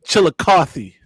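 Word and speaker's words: Chillicothe: How many times y'all play the YMCA of Chilikothy? Hey, that's how you pronounce that.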